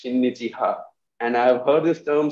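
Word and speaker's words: 親日派: And from for Shreya, you know, this term that you used, in Japanese, we'll pronounce it as shinnichiha.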